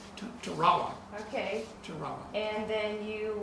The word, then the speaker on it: Tarawa: And you went by train there through a jungle, and then you came to, how do you pronounce that? Tarawa? Tarawa.